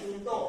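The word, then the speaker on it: juncto: 12 Tahun 2011 ya junto Jo itu bukan ju ya tapi junto bacanya juntoang-ang Nom 35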